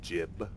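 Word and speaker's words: Jiub: jub's Opus page four jib I guess it's jib they pronounce it JB when they talk about him in Oblivion but I'll trust him about the pronunciation of his own name Strider was tiring but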